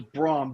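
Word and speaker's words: Brom: I gota So, it's Braum.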